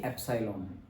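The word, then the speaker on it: epsilon: Okay, so your tensile stress is sigma and strain is इसको हम pronounce करेंगे एप्सिलॉन। Okay, क्या? Strain को एप्सिलॉन, ई जैसा दिख रहा है वो, so उसे हम बोलेंगे एप्सिलॉन।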